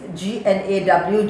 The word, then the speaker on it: gnaw: It is not gnaw, please. G-N-A-W, G is silent, it is gnaw.